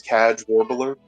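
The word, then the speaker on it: Kcaj Warbler: I'm trying to remember how I pronounced it earlier in my head. Cadge Warbler. His name is Cadge Warbler.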